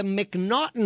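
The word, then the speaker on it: M'Naghten: In the United States, we have something called the McNaughton Rule. And it's spelled M''NAG. It's like and somehow we got McNaughton out of that.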